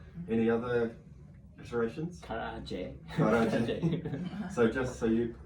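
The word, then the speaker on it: 唐揚げ: Karaage. Karaage. So just so you, the actual correct pronunciation is Karaage.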